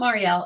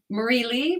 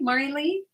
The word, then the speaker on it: Marilee: i'm mispronouncing your name is it marlee it's mari it's not marielle it's marie lee marilee i apologize remember when